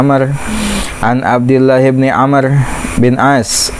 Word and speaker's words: Amr: and Abdullah Ibnu Amr Jadi kalau ada Wow dibacanya Amar dan abdillahibni Amr Bin